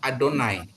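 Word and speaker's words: אדני: eh instruksi pembacaan ya Jadi ini itu dibaca adonai atau baca Hasen Hasen itu sang nama ya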